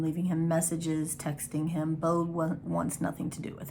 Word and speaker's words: Beau: so emerson has a son his name is bo um and that's spelt not like bo like b.o spelled like b-e-a-u um they're estranged right now bo